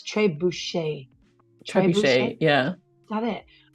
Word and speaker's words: Trebuchet: And apparently, and I'm now gonna pronounce it as Trebuchet, is named after a catapult.